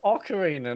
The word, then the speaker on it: ocarina: it Ocarina of Time so Ocarina not Oak what is it can you just something it's an Ocarina okay it's like saying a guitar I'm playing a guitar